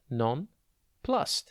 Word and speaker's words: nonplussed: the exam coach dot tv today's word is non plus it is pronounced non plus and it is spelt n o n p